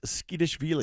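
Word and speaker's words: Tskitishvili: Nicholas Skishveile.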